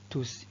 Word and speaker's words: tous: tout au masculin pluriel le s final s'entend à l'oral on dit tous tous lorsqu'il vient devant le